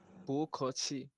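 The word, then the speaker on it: 不客气: আপনার এই এখানে এখানে এখানে একটা ব ব দেখতে পাচ্ছেন, এটা সরাসরি ব হবে না, প হবে না, এদের মাঝখানে একটা নতুন আসবে, মানে পু খছি ওইরকম।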